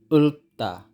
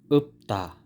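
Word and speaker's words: 읊다: chom hta tta tta last upa upa hindi ula dapat up ta up ta pero ang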